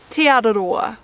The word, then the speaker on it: Te Araroa: so that eventually you'll be able to say Te Araroa.